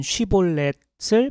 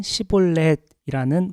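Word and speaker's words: שִׁבֹּלֶת: 시냇물을 의미하는 쉬볼렛을 발음하게 해서 무거운 짐을 의미하는 시볼렛이라는 발음을 하면 모두 죽였습니다. 에브라임 사람들은 쉬볼렛 발음하는 것을 어려워했었어요. 마치 경상도 출신 사람들이 쌀을 살이라 발음하는 것과 같습니다.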